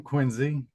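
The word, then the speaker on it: Quincy: yeah so I'm from quinsey and that's with a z not a c and uh that's how you know you're from really from Massachusetts when you pronounce it that way um and uh yeah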